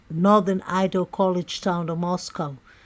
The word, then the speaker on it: Moscow: Idol college town of Moscow pronounced not like the Russian Capal but to rhyme with Costco the locals with no